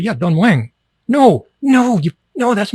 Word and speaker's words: Don Mueang: Thais will say, no, you don't say it like that. You say it like Don Mueang. And I say, yeah, Don Mueang.